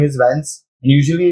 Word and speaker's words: Vance: is my name is Vance and usually it's like I've given up after a period of time because people pronounce all different things they call bonds Vans Venice Venus you know so one